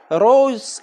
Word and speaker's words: rose: ګورئ rose ROSE دا روز نه تلفظ کیږي. روز په اخر کې چې دغه کومه SE تاسو وینئ دا د زد په رقم دی.